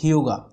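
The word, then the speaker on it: hygge: is yoga way yes the pronunciation of this word is hyuga and now the client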